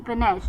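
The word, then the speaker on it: panache: पी ए एन ए सी एच ई पनेश।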